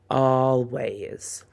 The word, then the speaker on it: always: That a spells the a sound like all. Always.